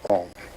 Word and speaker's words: AUM: It's written A-U-M. You start in the back of the mouth, ah, and then oo, you fill the mouth, and closes at the mouth. And when you pronounce this properly, all vowel sounds are in that pronunciation.